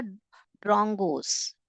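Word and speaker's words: drongos: Okay, ये क्या कौन है बेटा, ड्रॉन्गोस। क्या कैसे प्रोनाउंस कर रहे हैं, DRON, ड्रॉन गोस, GOS, गोस, ड्रॉन्गोस।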